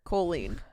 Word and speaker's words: Colleen: So like coal, like you're a coal miner. Colleen.